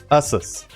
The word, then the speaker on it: Asus: Asus is actually the back half of the word Pegasus. So, it's supposed to be pronounced Asus. Assus, whatever.